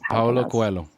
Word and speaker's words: Paulo Coelho: It's by Paulo Coelho? I can't remember. Paulo Coelho. You know how to pronounce it.